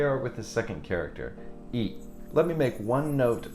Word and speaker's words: い: understand that this character, E, is not the letter E. It is the letter I. But it is pronounced E. But it is pronounced like the letter E.